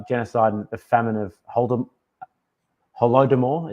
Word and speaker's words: Holodomor: And then in 1932 and 1903, we have the genocide and the famine of Holodomor, it's pronounced.